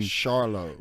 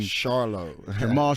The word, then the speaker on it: Charlo: me your last name charlo Marlowe is honorable yeah that's right it's charlo not Charlo but I guess Jamal Jamil and me are the only ones in the world who pronounce it that way or maybe my boy